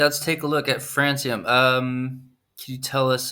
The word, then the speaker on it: Francium: special guests from uh frankium is that how you pronounce it frankium because i've heard francium and francium could someone help me with that not soon francium like the element yes exactly all right